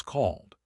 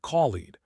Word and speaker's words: called: So called equals called. Not collided. One syllable.